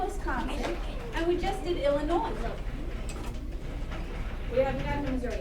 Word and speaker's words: Illinois: Everyone say Illinois, Springfield. Illinois, Springfield. You do not say Illinois. That S is silent, all right?